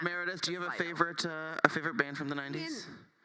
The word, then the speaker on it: Slido: It's pronounced Slido.